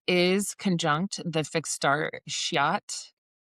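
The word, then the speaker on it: Scheat: A Venus is conjunct the fixed star shiat. So some people pronounce it like sheet uh which sounds very close to the naughty word.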